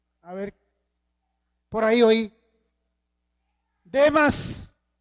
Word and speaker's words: Demas: Demas no es de más. No tiene acento en la última A.